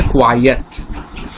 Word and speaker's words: quiet: এখানে আমরা বুঝতে পারবো, প্রথমে আগে উচ্চারণটা দেখি, যেটা আর কি সাইলেন্সের অর্থে ব্যবহার করা হয়, সেটা কি কোয়াইয়েট, এর উচ্চারণটা হচ্ছে কোয়াইয়েট।